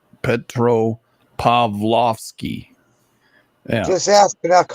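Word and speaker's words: Petropavlovsk: it happened like just as I left Petroski petrovski no P Petro pavlovski yeah just ask I how to say it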